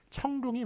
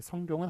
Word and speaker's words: 청룡: 하여간 어쨌든 그 사람에 대한 발음은 청룡이 맞습니다. 성룡은 한국식 발음이고요. 중국 발음인 청룡이 맞고요.